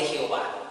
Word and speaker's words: Jehová: El de Yahweh, colocándole las vocales para escuchándolo como ellos lo pronunciaban, le colocamos las vocales, y el otro que es la transliteración de Jehová. Las dos son válidas, las dos son manejadas.